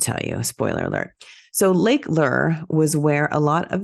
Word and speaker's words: Lake Lure: Recently I went on a family vacation to Lake Lure.